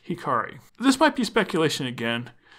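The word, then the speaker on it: 光: Going back to the episode title, we see it written as the kanji for light, which is pronounced Hikari.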